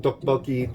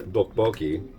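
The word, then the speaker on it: tteokbokki: But yeah, they consider the first syllable in dokboki to be either a soft T or a hard D.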